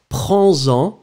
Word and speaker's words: prends-en: So, prendre, same thing here, whether you got the two options, singular one, prends-en, d'accord? So, you'll have to make the liaison between the S and the en, prends-en, or then prenez, you could go for the plural form, prenez-en.